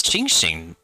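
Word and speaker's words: Qingxin: something that tastes like chingshin or violet grass. Oh, she actually says chingshing. Like I'm surprised because when they say the X sometimes they pronounce it like the S.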